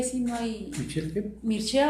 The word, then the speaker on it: Mircea: Mircea, o sea, se escribe Mircea.